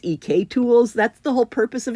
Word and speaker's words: EK Tools: And I have been told that this is EK tools, not EC tools that I've been mispronouncing it.